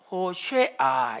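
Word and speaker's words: הושע: 뜻에 대해 살펴보겠습니다 자의 호세아는 히브리어로 이렇게 쓰 줘 허어 예 아 아 포 쉐 아 호 쉐 아 이렇게 발음 하죠 호 쉐어 2호 시안은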